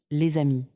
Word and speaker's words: les amis: La liaison est obligatoire, on dit les amis, on prononce les amis.